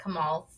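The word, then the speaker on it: comal: I see people use the, like, kamals. I'm saying it wrong. But, you know. Hey, Google, how do you say kamal in Spanish? In Spanish, kamal is Kamal.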